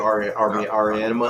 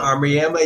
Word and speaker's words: Auriemma: Gio Auriemma. Auriemma, yeah, he's the women's UConn coach.